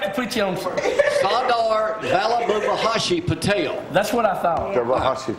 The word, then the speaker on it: Sardar Vallabhbhai Patel: Sardar Vallabhbhai Patel.